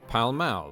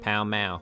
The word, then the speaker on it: Pall Mall: game called Palamaglio, or Pall Mall, the pronunciation of which can still be heard in London today, when locals pronounce the street name of the same name, Pall Mall.